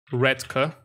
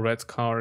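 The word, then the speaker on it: Redcar: funny uh whitby scarborough redka or red car if you prefer lester we've done lancaster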